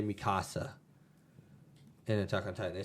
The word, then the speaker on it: Mikasa: But they really messed up Mikasa's character.